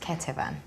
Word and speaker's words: Ketevan: pronounce the album title the album title is pronounced Ketuvim cut the phone um why this name okay the reason for calling it keto van is because I've taken a bit of a